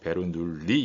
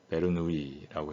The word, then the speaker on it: 베르누이: 우리가 베르누이 방정식을 합니다 프랑스 사람이기 때문에 이걸 배로 눌리 이렇게 하지 않고 베르누이라고 해서 이렇게 발음을 합니다 베르누이 방정식의 해당하는 거죠이